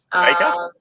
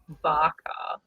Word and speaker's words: Bakar: Baker? No, it's not Baker. I think it's Barker.